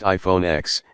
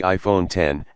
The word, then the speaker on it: iPhone X: since the original iPhone it's not pronounced iPhone x it's the iPhone 10 and the screen takes